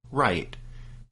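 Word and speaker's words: Raith: And Wright's name is spelled R-A-I-T-H, but as we understand it, his name is pronounced Wright.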